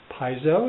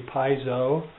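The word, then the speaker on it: piezo: the adjustment for the piso is that how you say it it's spelled p i e zo o so I'm going to pronounce it phonetically piso Pio pickup which is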